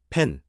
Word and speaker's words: แผน: 발음. 펜. 한국어 펜두가 비슷하지만 나. 소리가 섞인.